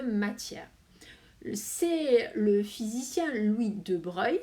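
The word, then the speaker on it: de Broglie: c'est le physicien louis de breuil ça se prononce comme ça qui a affirmé en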